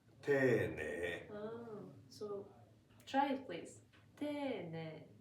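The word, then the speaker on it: 丁寧: Tene. That means polite, being polite. Okay. Even though it's written as te-i-ne-i. But it doesn't. We pronounce it like tene.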